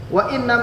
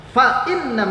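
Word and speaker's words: فَإِنَّ: Kalau ada orang baca pakai wa inna ma'al usri yusra, wa inna ma'al usri yusra, itu keliru. Yang pertama pakainya fa bukan waw. Fa inna ma'al, karena dia merupakan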